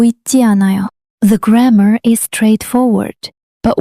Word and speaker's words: 않아요: It's written 않아요, but it's pronounced 않아요. Here, ㅎ is not pronounced before the following vowel. And ㄶ links to the next syllable. 않아요.